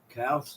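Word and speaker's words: Calce: dude anyway Kels Matthew no it's not Kells I keep calling Kells callus cow how do you pronounce that you a little better than me no I'm the c-a-l-c-e yeah cows cows I guess and Matthew Cowles douche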